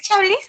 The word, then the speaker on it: Chablis: ¿Es Chablis o Chablis? Chablis. Recuerden que la Chablis. T, la E y la S al final de todas las palabras francesas no se pronuncia.